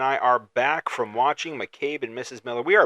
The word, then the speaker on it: McCabe: have not checked out Made and Mrs. Miller yet. That's how you say it. McCabe and Mrs.